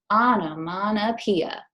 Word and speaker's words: onomatopoeia: language it is called onomatopoeia can you say that with me I know mana epiha six syllables and onomatopoeia is that's